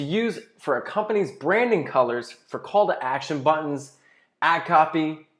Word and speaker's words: Kelir: easier the tool is called color or pronounced color sounds a little French I think they were